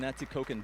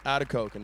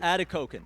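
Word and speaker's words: Atikokan: And uh when you lived up there in Atikoken, did I pronounce it correctly? Atkoken. Adakoken. That's right. Adakoken.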